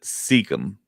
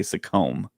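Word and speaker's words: Secombe: I believe he Oh, pronounces it Seekum. Seekum. Okay, Yeah, and he's the and voice of Watto. he's brought up the fact that Americans always want to say Seacombe.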